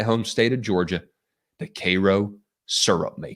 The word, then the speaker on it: Cairo: a look at the kro syrup makers and it's spelled c AI r o but do not confuse it for that town in Egypt it's not pronounced Cairo it's pronounced Koo you want to let people know you ain't